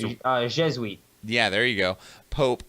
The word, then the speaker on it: Jesuit: cardinal who became the first, how is that pronounced? Let me open it. Jesuit? Jesuit. Yep, it's Jesuit.